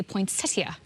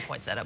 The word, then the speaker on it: poinsettia: because you're always like, why is there no T in poinsettia? And do you say poinsettia? No, I don't. I say poinsettia, but exactly. Yeah. It's spelled like that, but, you know. Yeah, I don't know why I was doing that. You're right. Oh no, I know. I do that too. I over enunciate it.